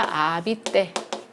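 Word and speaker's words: habiter: 거주하다 살다라는 동사 아비떼가 되겠어요. 저거 아씨 발음 안 나니까 이렇게 난다라고 했죠.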